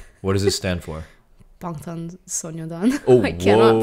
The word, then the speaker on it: 방탄소년단: 방탄소년단. Oh, I cannot pronounce that properly.